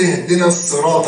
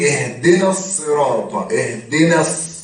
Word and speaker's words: اهدنا الصراط: طب ليه انا بقول اهدنا الصراط بنطق النون وبنطق بعدها على طول الصاد؟ بعديها ساكن. زي بالظبط وقال الحمد لله، زي فلما ذاق الشجرة. يبقى أقول اهدنا الصراط، بنطق النون وبعدين بنطق الصاد المشددة، اهدنا الصراط المستقيم.